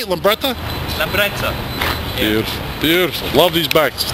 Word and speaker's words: Lambretta: Lambretta.